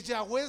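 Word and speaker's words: Yahweh: rabinos cuando expresan que ya wen se pronuncia como la respiración de uno así se pronuncia bueno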